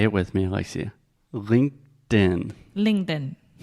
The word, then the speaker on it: LinkedIn: as well yeah okay let's begin with the pronunciation say it with me Alexia LinkedIn LinkedIn when Alexia is being very ambitious